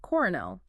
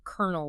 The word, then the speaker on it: colonel: shortened into the two-cllable kernel we say today. Wow. So, spelling from France, pronunciation sort of from Spain, mangled over time.